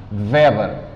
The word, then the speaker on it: Weber: Não Weber. Weber. É o Weber que se pronuncia, não é? Weber, que é descendência alemã.